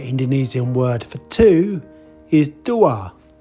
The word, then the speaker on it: dua: word for two is Dua that sounds a bit like Duo so that's easy to